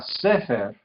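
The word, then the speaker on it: ספר: Esta palabra sefer, el énfasis cae en la primera sílaba, entonces se indica con este tipo de acento, en este caso.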